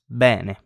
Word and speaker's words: bene: That's pronounced E in Italian, as in the word bene. This means good in Italian. And it's the same pronunciation as the E in bad or they. Bene, they, bad, bene.